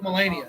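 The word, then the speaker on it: Malenia: And you will need help with Millennia because she is ridiculous. Melania. Melania. Like actually it's Melania. That's how you say it.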